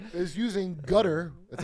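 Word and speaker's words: Qatar: This is using Gutter. That's how you pronounce Qar.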